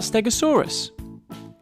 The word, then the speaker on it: stegosaurus: you say that again stare go saw rest can you say it with me stare go saw so what do we know about stegosaurus it was found in